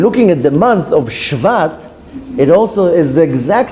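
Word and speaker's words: שבט: Now, the meaning of Shvat, if you read it with the pronunciation of Tzere or Segol, it will be Shevet. Shevet means a tribe. But reread the name of the month is Shvat, with a Shva, with the pronunciation of Shva.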